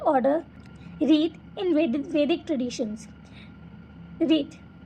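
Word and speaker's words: ऋत: रीत pronounced as रीत, okay, वो मैंने ऐसे प्रोनाउंस किया है, वॉज वन ऑफ द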